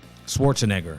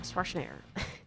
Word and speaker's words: Schwarzenegger: Schwarzenegger. Schwarzenegger.